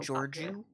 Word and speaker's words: Georgiou: every episode I understand is that how you pronounce it Georgia yep Georgia mm-hmm write that down I